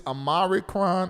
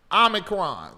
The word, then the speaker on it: omicron: but i want y'all to be mindful this amaricron i know ain't saying the right how you say it what ami krom omicron the omicron that um is out here this